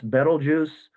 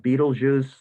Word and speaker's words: Betelgeuse: that looks pinkish here that's betelgeuse or some people call it beetlejuice those are both acceptable pronunciations this star has been